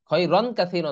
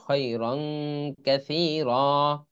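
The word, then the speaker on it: خَيْرًا كَثِيرًا: আচ্ছা এখানে তানভিনের পরে কাফ আসলে র আলিফ দুই জবর রং হবে। কাফ যেহেতু তানভিনের পরে কাফ আসছে এজন্য খৈরং এরকম হবে। খৈরন কাসীরা না, কিন্তু এটা এটা হবে খৈরং কাসীরা।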